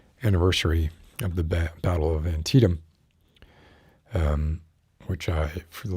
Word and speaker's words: Antietam: battlefields but anyway uh i was still calling it auntie now and when i see the word i still want to do that even though that n does not exist um the second and sentietum it's not antietam either it's antietam anyway that was a